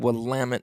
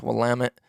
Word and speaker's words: Willamette: willamette willamette willamette i think it's actually said willamette valley waterfowler this was on tuesday solid non-biased information five stars and the only reason i think i know how to pronounce i'm pretty sure it's willamette correct me if i'm wrong that's an organ